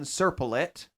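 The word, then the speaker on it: Serpollet: he's a French dude Leon serplete that's how he pronounces it not me I looked it up Circle it that's a French pronunciation but you didn't look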